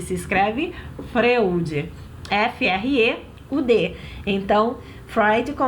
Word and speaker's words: Freud: Sigmund Freud. Lembrando que Freud não se escreve Freud, se escreve Freud.